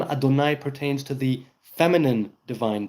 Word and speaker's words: Adonai: And right now, it's not common knowledge how to pronounce it, which is why we pronounce it Adonai.